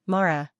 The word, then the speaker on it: Mara: The correct pronunciation is Mara.